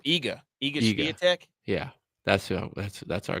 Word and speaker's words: Iga: How do you say her name? Igia? What? Oh, Iga.